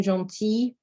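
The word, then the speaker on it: gentille: form of this adjective when it is feminine it is about g e n t i double l e and it's pronounced exactly the same so jean for the masculine john t for the feminine by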